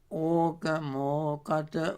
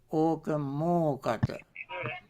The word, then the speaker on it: okamokata: Okamokata ubbhato. Now, okang, okata we join together and pronounce as okamokata. Okang, okata become okamokata.